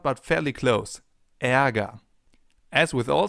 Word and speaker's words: Ärger: It's pronounced like this. Ä, as in Ärger, the German term for anger. And anger actually contains a sound that comes pretty close.